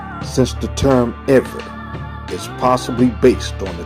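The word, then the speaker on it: עברי: In English, you will spell this I-V-R-I, and it's pronounced Eve.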